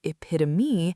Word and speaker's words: epitome: I had that with the word epitome for years. I thought it was epitom, like rhyming with home. And then I heard someone say epitome, and my whole world shifted. Four syllables. E-pi-to-me. I had to sit with that for a while.